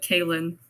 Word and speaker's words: Kayn: I say my name like Kayn, so doesn't really matter.